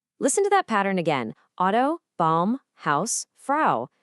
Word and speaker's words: Auto: Exactly like the sound in the English word house or mouse. Let's just say that sound together. Ow. Got it? Now, let's see how this one tiny rule lets you pronounce a bunch of German words perfectly. Just look at how consistent this is. For the word car, we have auto. Can you hear that right at the beginning? Auto.